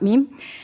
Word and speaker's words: MEME: ecology of Malaysian elephant or meme as some pronounced memy but meme and also a Nottingham